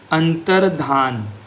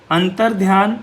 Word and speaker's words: अंतर्धान: अंतर्ध्य गलत है। अंतर्धान सही है।